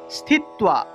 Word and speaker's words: স্থিত্বা: তাহলে নিরাহারাহ স্থিত্বা, স্থিত্বা। এখানে দেখুন তয়ের নিচে একটা বফলা আছে। যদি তয়ের নিচে বফলা থাকে তাহলে তুয়া উচ্চারণ হয়, তুয়া উচ্চারণ হবে।